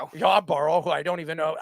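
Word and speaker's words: Yarbrough: Ahmed Rosario, Ryan, how do you pronounce it? Yarborough. Yarborough, who I don't even know.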